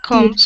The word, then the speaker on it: comes: o m e s it's got an up sound like come come sunflower seed sunflower